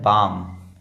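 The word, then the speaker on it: balm: ये है बालम है? नहीं, ये है बाम।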